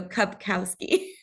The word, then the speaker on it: Kupkowski: do you pronounce it it's like a cup with a k a cow with a K and then ski so cupkowski papowski that's so cool